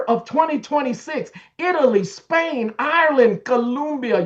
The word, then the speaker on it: Colombia: Look, by the summer of 2026, Italy, Spain, Ireland, Colombia, you got to say it correctly. Colombia, Chile, and Peru.